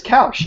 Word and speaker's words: Koush: Because I feel like I said that once, and somebody was like, "Nah, it's Koush." It's Koush. Yeah, like I was almost convinced that it was supposed to rhyme with couch.